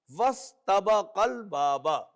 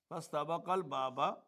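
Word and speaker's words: وَاسْتَبَقَا الْبَابَ: So when waw is available to join seen, so this will an alif written but not pronounced. Wastabaqal baba. Qa al baba. Wastabaqal baba.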